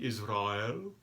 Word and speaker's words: Israel: Israel, please. Old-fashioned pronunciation, Israel.